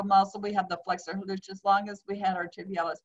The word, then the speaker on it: hallucis: So just pronounce it hallucis, and then you will have the U, where the U belongs.